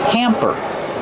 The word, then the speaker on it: hamper: Pronunciation used a short a sound like ham and ma'am. Hamper.